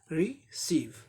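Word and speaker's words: receive: अब नेक्स्ट देखें, रिसीव, री एक ब्रेथ, सीव दूसरा ब्रेथ, यानी ये दो सिलेबल का वर्ड है। रिसीव माने प्राप्त करना, ये वर्ब हो गया।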